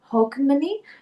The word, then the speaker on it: Hogmanay: And I hope I pronounce this right, Ren Hogmanay, for the Scottish celebration for New Year's, and